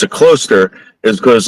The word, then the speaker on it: Closter: So, where I live, there's a town called uh Closter, but it's really pronounced cluster, right? And and the thing is that for years and years and years, the reason why we pronounce it cluster is because like all